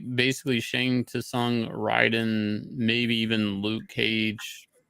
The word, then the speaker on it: Shang Tsung: It's Shang Tsung, like Tsung. I guess the T is silent.